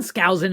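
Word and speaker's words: Skousen: Scousin.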